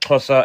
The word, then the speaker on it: Xhosa: I'm part of the Xhosa people. What was it? Xhosa. It's a pretty difficult word to How do you pronounce.